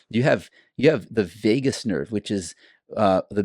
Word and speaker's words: vagus: The vagus nerve. Like Vegas? Like of Las Vegas? It's spelled a little different, but vagus nerve, cranial nerve number 10.